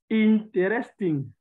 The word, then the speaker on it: interesting: Interesting. Not interest. You don't pronounce that E.